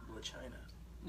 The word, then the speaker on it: Blac Chyna: Is that how it's pronounced? That's how you say it. Blac Chyna.